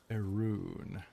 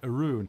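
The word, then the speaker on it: Arawn: but oh yeah I see is it pronounced Arun interesting Chad is saying it's pronounced erun yeah if you look at the phonetics media all right Arun so arun's Lodge all right thank you for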